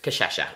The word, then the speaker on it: cachaça: So, this is just cachaça, okay? And it's spelled C-A-C-H-A, and then there's one of those C's. What's that? That's S-A. No, it's a sh. There's no S in it. That makes sh.